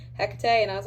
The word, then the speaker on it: Hecate: I pronounced her name Kate for the longest time, and my spirit coach was like, do you mean Hecate?